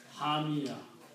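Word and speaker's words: حامية: In every ayat, they are like hamiyatun. Original word is hamiyatun. Hamiyatun means very hot. But when we stop, we pronounce hamiya.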